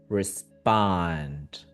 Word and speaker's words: respond: because the stress is in the other syllable it's going to be faster. So, respond. Respond. Okay. Again, I was nervous, but that was perfect. Uh say one more time. Okay. Respond. Respond. So, again, feel how the first syllable is very fast compared to the second one is longer.